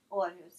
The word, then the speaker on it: Aarhus: Is that the correct way to pronounce it? Aarhus? Aarhus, yes. Aarhus.